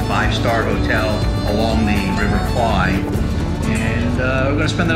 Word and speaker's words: Kwai: Kwai. So the real name of the bridge and the river is pronounced in Thai, Kwai, not Kwai, Kwai.